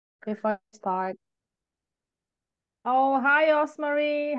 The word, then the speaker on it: Osmarie: to pronounce for other people but it's just pronounced osar I'm originally from the Philippines so I was